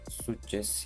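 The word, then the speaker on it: success: Suces yani sakız diye okunur telaffuzu.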